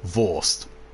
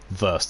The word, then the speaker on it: Wurst: You don't pronounce Wurst properly? I know I don't. I know it's Wurst, but still, Wurst sounds better for jokes.